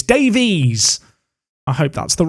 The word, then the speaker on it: Davies: alfonso davis or davey is it davies it's davies davis would be if is it davis or david alfonso davies i remember saying it wrong once and the youtube comments section came for me because i said it kind of the the way it would be if it was an english name it's davies i hope